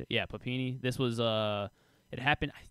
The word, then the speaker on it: Papini: Yeah, Papini.